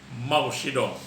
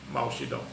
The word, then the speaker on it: Mao Zedong: It rhymes with Pamatong, but now it's pronounced as Mao Zedong.